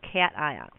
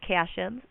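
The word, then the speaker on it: cation: are called cat ions I've also heard them referred to as casion so if you're watching other videos and somebody says the word casions that's just a different way of pronouncing it um I was taught it as cat ions and so that's kind of the way that it's stuck in my head and I like cats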